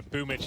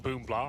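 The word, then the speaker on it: boombl4: So anyone who's not aware, Boomich is like boom blah on the screen. It says obviously it's Russian pronunciation. We're trying to cater for them. BL is a different character.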